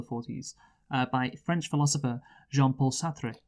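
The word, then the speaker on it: Sartre: by French philosopher Jean-Paul sathri ah or sat however you say it I think it is satra okay you can probably it's definitely a better a more French way of pronouncing it but who cares yeah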